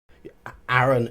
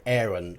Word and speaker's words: Aaron: even era cochra because Aaron and Aaron are both allowable spellings of allowable pronunciations of the name which is double a r o n um I've heard them call themselves either Aaron or Aaron both acceptable um let's move down